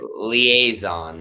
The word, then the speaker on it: liaison: Liaison, I was, but they only had an L. I mean, it's spelt wrong.